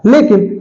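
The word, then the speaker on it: lock: रह गया तो इसलिए सी रखकर लॉक बनाया गया है लेकिन सी का साउंड साइलेंट कर दिया गया है आपको एक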